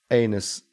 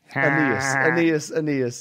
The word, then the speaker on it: Aeneas: It does have a verbal component, but I'm going to cast Command on Anus. It's going to automatically fail unless you say his name properly. Aeneas.